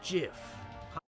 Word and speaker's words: GIF: like a gif it's not the truth it's pronounced jiff actually hang on a second it's not showing